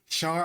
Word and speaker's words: Char: I know it's like Shah, but like I can't help pronounce it. I can't help pronounce it. I can't help but pronounce it Shar sometimes.